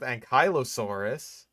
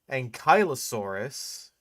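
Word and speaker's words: Ankylosaurus: Giggot a jiggonotasaurus rather did not coexist with Ankyossaurus. Number two, it is pronounced Ankyosaurus.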